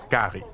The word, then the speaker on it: cari: In La Réunion, they visit Creole houses and eat rice, often with a local curry, pronounced gari.